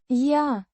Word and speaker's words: Я: It's pronounced Я. similar to the ya in yard.